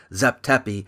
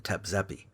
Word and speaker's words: Zep Tepi: So Hancock must have somehow figured out that Zep Tepi is closer to how the Egyptians may have pronounced the term than Tep Zepi.